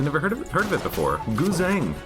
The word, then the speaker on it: Guzheng: Guzheng. It's a Chinese instrument. Chinese pronunciation of it would be something like Gunzheng or Gunjang.